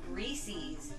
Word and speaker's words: Reese's: it's when people say reese's instead of reese's for reese's pieces because there's no see eh it rhymes Reese's Pieces it's not Reese's pcs yeah I'm so happy what